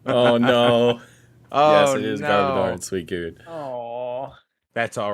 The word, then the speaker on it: Garbodor: garbor first because I didn't know how to pronounce the name so I wrote trouish oh no yes it is garor sweet good a that's all right good job